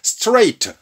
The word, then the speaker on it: straight: straight. GH가 묵음이 되면서 GH가 들어가지만 소리는 안 나요.